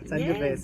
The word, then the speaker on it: Sangiovese: Okay, so our next wine, it will be the Sangiovese. Sangiovese. I like to pronounce it very Italiano. Sangiovese, Yes, okay.